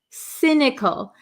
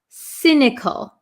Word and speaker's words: cynical: okay so um cynical cynical um it has a c y this is not a hard C but a soft C it sounds like an s cynical cynical so if somebody